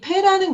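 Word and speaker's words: פא: 따라 구분이 되는 단어인데 다게시가 있으면 발음이 거세졌잖아요. 그래서 영어의 P처럼 푸 소리를 내고요. 다게시가 없으면 부드럽게 소리가 나잖아요. 그래서 푸처럼 되는 거죠. 푸, 푸. 이 페라는 글자는 조금 볼 게 많아요. 다게시가 있는 경우와 없는 경우에 따라 발음이 변한다.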